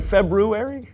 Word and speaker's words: February: February did you say February I know there's an R there but most people don't pronounce it oh well most people